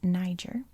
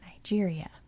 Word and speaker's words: Niger: Because I had grown up thinking that this was Niger on the Niger River bordering Nigeria. But apparently the accepted way of pronouncing it internationally is Niger. And I think it's only in American English where Niger can slide, but literally everywhere else in the world calls it Niger.